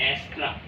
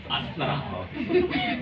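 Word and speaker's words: Astra: अस्त्रा theme ठीक है इन technical way इट्स एस्ट्रा लेकिन आप भारतीय होने के नाते क्या पढ़ेंगे अस्त्रा बट it's really pronunciate एस्ट्रा ठीक तो हम लोग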